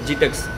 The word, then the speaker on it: GITEX: ஜைடெக்ஸ், ஜிடெக்ஸ். இது சில பேர் ஜைடெக்ஸுங்கிறாங்க, சில பேர் ஜிடெக்ஸுங்கிறாங்க. நான் ஜிடெக்ஸ் தான் சொல்லுவேன். உங்களுக்கு எது ப்ரொனவுன்ஸ் ஈஸியாக இருக்கோ அதை வச்சுக்கோங்க.